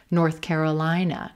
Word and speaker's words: North Carolina: not stressing the first word, not stressing north. We're not going to stress those directional words, north or south. We're going to stress the second word, Carolina, North Carolina, North Carolina.